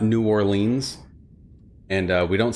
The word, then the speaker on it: New Orleans: Um I was going to say earlier that um a giveaway is that like they pronounce uh it's we say New Orleans not New Orleans and uh we don't say Lafayette, we say Lafayette.